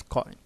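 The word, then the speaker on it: quoin: then next is coin it is pronounced as coin so Kyle is actually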